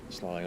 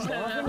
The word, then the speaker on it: sloughing: this slug mass dislodges, slawing off and kind of remaining. Off. Damn it, Matt. Sloughing off. Sloughing off. Sloughing, as I've learned to pronounce it properly.